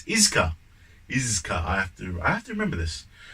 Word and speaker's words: Iizuka: I always pronounce it Izuka. I don't know why that is. It's Iizuka.